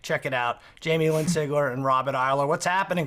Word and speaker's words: Sigler: I love how you say our names. You have a New York accent and you say it right. What do people normally say? They We're in Texas right now, you know? We don't hear Yeah, but I get like genuine Seagler.